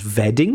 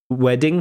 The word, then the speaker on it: wedding: Um, also the pronunciation of wedding you pronounce as vetting with a V for birthdays and wedding days. Ving uh wedding has a W sound, not a V sound.